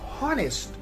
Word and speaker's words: honest: the other hand we have the word which is spelled as h-o-n-e-s-t but it is not honest it is pronounced as honest so h is